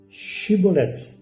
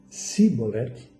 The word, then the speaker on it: Xibolete: Se respondesse que não, os homens de Gileade lhe diziam: então diga Shibolete. Se ele dizia Sibolete, qual a diferença? Shibolete. Mas se ele dizia Sibolete, não podendo pronunciar corretamente a palavra, eles o agarravam e matavam nos vales do Jordão.